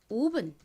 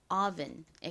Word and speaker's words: oven: 한국식으로는이 단어에서를 오로 읽어서 오븐 이렇게 표기하는데요. 실제 미국식 원어 발음으로는이 단어에서 오가 오 아 소리 중 어에 가까운 소리가 납니다. 그래서 오븐이 아니라 실제 발음은 oven에 가깝습니다.